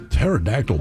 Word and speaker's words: pterodactyl: Pterodactyl porn.